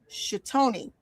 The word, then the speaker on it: Toni: So it's pronounced chony. So, you know, with Tony for short.